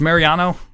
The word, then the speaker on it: Mariano: glad to be here Mr Mariano is it pronounced Mariano it is indeed but please call me